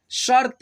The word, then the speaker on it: शर्त: वाला र मिल गया, शर्त यानी कि तो से पहले र का उच्चारण, शर्त मंजूर है, लेकिन पहले आप प्रश्न तो पूछिए।